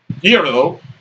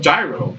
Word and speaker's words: gyro: i mean you know in greek it's supposed to be pronounced hero um in america we call it gyro because that's how it's